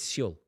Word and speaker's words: Seoul: pronounced it like it was a Costa del Sol. It's not Sol, is it? It's not Sol Seoul. Campbell. How do you say it then? It's Seoul. Seoul.